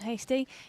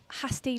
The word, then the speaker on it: Hasty: SP warning about Leon Hasty it's uh it's not Hasty like pasty it's Hasty like tasty I say it's a